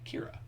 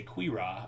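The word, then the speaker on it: Qi'ra: solo movie there is a character named Kira but her name is pronounced Qi apostrophe re Kira but when I need Alexa to pronounce this I am more than likely going to need a pronunciation guide because she might say queer ah or something like that which is not what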